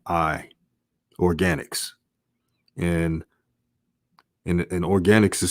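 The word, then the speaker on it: Organix: spelled a i n i organics and and organics is spelled o-r-g-a-n-i-x so i'm just giving an example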